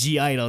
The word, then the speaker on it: (G)I-DLE: confirmed the pronunciation was G-Idle. They said G-Idle. Yes, they did. They said the G. Yes. So screw off all you idol people. Yeah, take it's that, not people. Silent. Yeah, it's not silent.